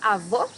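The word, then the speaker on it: avô: difference between avoc and avo here you have a closed o avo my grandfather was an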